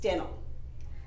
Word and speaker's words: Dennill: Dennill. So how many syllables are there in my name? Let's count." (Claps) Den...nill. "How many syllables is that?" "Two."